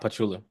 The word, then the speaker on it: Pachulia: I really believe back in San Antonio when Pachulia, I think is how you say it, Zaza Pachulia. Pachulia. Yeah, Pachulia, you're right.